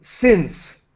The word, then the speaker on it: since: I think I heard Victor say sins. So I wonder if it's sins or signs. Oh, since. Since. Okay, thank Yeah. Mhm. Like in, sin, since.